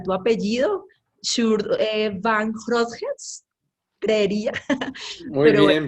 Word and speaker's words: van Grootgeest: Es un poco complicado pronunciar tu apellido, Shur Van Grootjes, creería, Muy pero bueno.